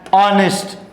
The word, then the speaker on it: honest: So here H is silent, and honest, H-O-N-E-S-T. Here H is silent.